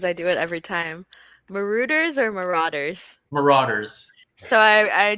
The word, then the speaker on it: Marauders: Elwood says, I'm forever calling the Marauders. Marauders? It's Marauders, huh? I say it wrong every time.